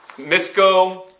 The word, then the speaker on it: Misco: Misco, misco, separated them. Notice the stressed syllable, soft I at the beginning, hard O at the end, misco.